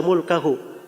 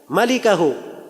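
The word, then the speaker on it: مالكه: Al-Bukhari itu tidak bilang illa mulkahu. Dia berkata illa malikahu. Tulisannya sama, mim, laf, lam, kaf, ha. Tapi cara bacanya yang beda. Dia bacanya illa mulkahu. Ya. Kalau bacaan yang benarnya illa malikahu, kecuali pemilik wajah.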